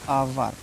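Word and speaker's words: hour: बहुत से बच्चे इसको हावर पढ़ते हैं ठीक है आवर लिखा है आवर ठीक इसको हमेशा याद रखना है आपको यह नियम ठीक है आवर पढ़ना है नॉट हावर ठीक है फिर उसके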